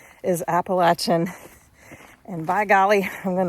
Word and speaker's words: Appalachian: Appalachin. I got to trying to remember to correct myself. The uh the correct pronunciation is Appalachin.